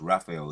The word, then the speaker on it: Raphael: It's Raphael.